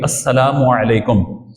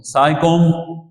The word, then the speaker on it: السلام علیکم: بھی عطا فرماتا ہے۔ یہاں پہ تلفظ درست ہونا چاہیے، السلام علیکم، سائکم نہیں، یہ کوئی لفظ نہیں ہے، سائکم سائکم وعلیکم یہ بھی کوئی نہیں ہے، تو السلام علیکم اور پھر سامنے سے وعلیکم السلام۔ اور یہ بھی بیان